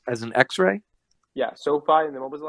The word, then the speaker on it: SoFi: c e and x as an x-ray yeah sophie and then what was the last one uh